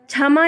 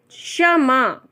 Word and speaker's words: क्षमा: क्षमा नहीं है, क्षमा। ठीक है, इसका उच्चारण जो है वो बहुत ही, तो आपको मुझे लगता है इसका उच्चारण करना आ गया होगा।